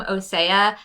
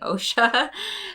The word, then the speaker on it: OSEA: love this is from osea I just had to look up how to pronounce their name because I've totally been saying OSHA but this is the